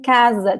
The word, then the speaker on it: casa: Just like in casa too. Casa, casa. So the S between 2 vowels in Portuguese always sounds like Z.